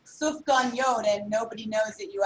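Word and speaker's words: sufganiyot: It's pronounced Soufganiyot.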